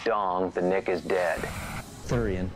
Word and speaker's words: Theuerian: The Nick is dead thurian pronounced like sewer only with a lisp known as the cactus